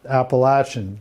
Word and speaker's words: Appalachian: title of this concert is it appalachian spring or appalachian spring apparently a lot of the people who live in that region pronounce it appalachian this is supposedly a big deal anyway the musicians of